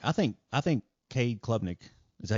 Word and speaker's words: Cade Klubnik: I think Cade Klubnik, is that how you say his name? Yeah, Cade Klubnik.